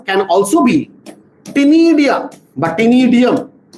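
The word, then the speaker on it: ctenidium: Respiratory organs can also be tinidia, but tinidium, C is silent.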